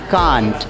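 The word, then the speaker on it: can't: कैन और नॉट दोनों को मिला के बोलेंगे कांट। तो इसके दोनों प्रोनाउंसिएशंस एक्सेप्टेड हैं, कांट एंड कैंट। आप कांट कहेंगे तो भी ठीक है, और आप कैंट कहेंगे तो भी ठीक है।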